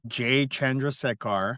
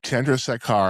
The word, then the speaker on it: Chandrasekhar: Jay Chandrasekhar. Chandrasekhar.